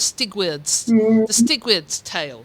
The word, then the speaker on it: Steward's Tale: He talks about the Stigward's Tale, which is the medieval way of pronouncing it.